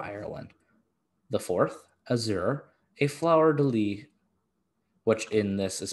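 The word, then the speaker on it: fleur-de-lis: harp or for ireland the fourth azure a flower de lee which in this is pronounced flower deluse because the 18th century was a thing or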